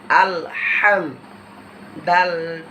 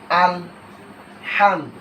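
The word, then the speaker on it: الحمد: মিলিয়ে পড়লাম আলিফ লাম জবর আল। এরকমভাবে মিম জ হরফ এবং হাচ্ছে হরকত। ডানদিকে হরকত। এখন আমাদের মিমকে ডানদিকে হরফের সাথে মিলিয়ে পড়তে হবে। হামি জবর হাম। তাহলে দুইটা উচ্চারণ আমাদের হরকতের হয়ে গেল। এখন আমরা জজমের উচ্চারণ করব। আল হামদ তারপরে হরকতের উচ্চারণ। হরকত আগে থেকে আমাদের শিখা দাল পেশ দু আল হামদু।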